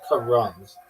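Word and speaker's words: carrom: Karam, the board game is usually pronounced Karam. Not even like Ram. It's Karam. Sounds like Kam. Emphasis on the first s silver.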